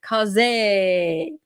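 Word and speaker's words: José: And they said it's not two syllables. It's just kind of slurred into it. Jose.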